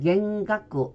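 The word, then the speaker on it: 幻覚: 환상, 환각 해서 우리가 흔히 쓰이는 단어인데 일본어 발음은 환상은 겐소, 환각은 겐가쿠 이렇게 발음이 됩니다.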